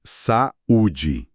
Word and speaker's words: saúde: O encontro existe na escrita, mas a pronúncia coloca elas em sílabas diferentes. É o caso clássico de saúde.